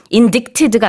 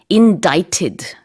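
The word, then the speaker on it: indict: 썼다가 바로 수정을 했었죠 자인 자이트 스펠링은 요 아이 앤 는 bite 뒤 인데요 인디 시드가 아니라 end it 라고 발음합니다 이거는 기소돼 다 고소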